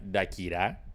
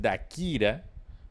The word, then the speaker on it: Dákira: Y la tilde iría en esta A, porque es una esdrújula. Si fuera aguda, se llamaría Dakirá, pero no. Como es Si no lleva tilde, es Dakira, porque sería grave porque las las